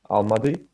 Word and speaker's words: Almaty: That's the current capital, and the historical capital is, how do you say, Alamani? Almaty, Almaty.